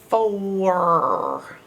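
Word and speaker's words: four: We would think maybe it's O-R, but it's not. It's O-U-R. 4. Now, the R is right. The R's making its correct sound, and the F's making its correct sound. But OR, in the middle, you gotta learn by heart, because OU is making a strange sound.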